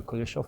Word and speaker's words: Kuleshov: I did learn when I was doing my own kind of trying to learn filmmaking about the Kuleshov Effect. And I think that Chaplin is famous and Kuleshov is less so, but he deserves to be more.